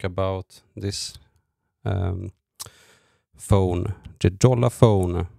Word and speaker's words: Jolla: And today I'm going to talk about this um phone, the Jolola phone. I hope I pronounce it right. I would say Yola, but I also got